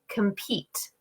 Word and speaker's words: compete: example, I have a word like compete, compete. So this word, I can hear that the first syllable, I'm saying it quicker, my voice is not as loud, the tone is lower, and it's shorter.